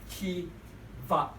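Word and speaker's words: תבה: The word ark here is actually pronounced T-va, okay?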